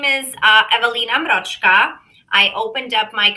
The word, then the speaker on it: Ewelina: Um, so, like I say, we've got Ewelina. Did I say it right? Yeah, Ewelina.